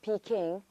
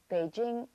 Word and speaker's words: Beijing: you the site in sounds of Peking or as the official pronunciation goes Beijing is not only the